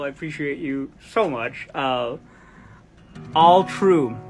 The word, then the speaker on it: Alu-tru: All true. The U is silent because all of you are truly Shut the front door with that gorgeous little, like, hey, I have a catchphrase.